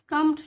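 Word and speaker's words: succumbed: है राउंड करा है क्योंकि बी साइलेंट है बी को हम नाउंस नहीं करेंगे स्कम केतन स् कमड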